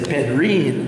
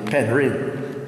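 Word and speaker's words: Penrhyn: P-E-N-R-H-Y-N. Mm-hmm. That was so it's spelled. These days people say Penryn, mm-hmm. but it's actually Penryn.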